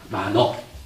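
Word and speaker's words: mano: 의라고 하는 것을 만호라고 읽어요. 만호.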